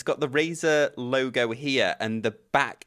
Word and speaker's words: Razer: they were called we we called them Reese like the reviewers that got the early ones called them Rees but it was actually pronounced Razer so they've changed their name now to be more like Razer so it's r z e and they sent me